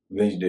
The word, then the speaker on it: Wednesday: वेंसडे में डी का उच्चारण नहीं हो रहा है, लेकिन किडनैप पे तो